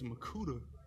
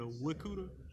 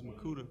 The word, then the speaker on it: Mwikuta: But it was harder because like the W silent, so it's Makuta instead of the Wikuta, so it's Makuta.